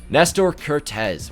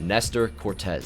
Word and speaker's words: Nestor Cortes: Nestor Cortes. Why'd I say it like that? Nestor Cortes.